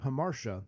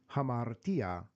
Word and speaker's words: hamartia: the university of georgia who pronounced the word hamarsha rather than hamartia and we we mock